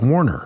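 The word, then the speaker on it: Werner: w r n r it's w r n e r but it's pronounced like Warner right yeah and uh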